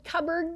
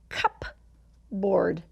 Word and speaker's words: cupboard: You might have heard the word cupboard before, but look how it's spelled. Cupboard. Cupboard. But we don't say cupboard, we say cupboard.